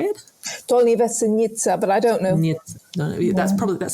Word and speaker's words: Dolní Věstonice: now I say Dolní Věstonice because I'm probably pronouncing it incorrectly. How do you say it? Dolní Věstonice, but I don't know.